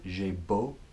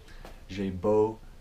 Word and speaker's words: j'ai beau: So in French it's j'ai beau, as in beau for beautiful, j'ai beau, plus a verb in